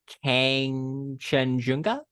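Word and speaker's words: Kangchenjunga: So they have to ascend the mountain, which is pronounced Kang Chenjunga.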